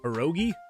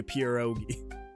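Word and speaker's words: pierogi: Uh pronunciation perogi. Perogi. I'm probably still going to say pureogi, but perogi.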